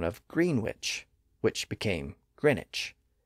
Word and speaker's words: Greenwich: green witch which became Greenwich it's spelled g re n wi C but we don't pronounce the W today and if you're a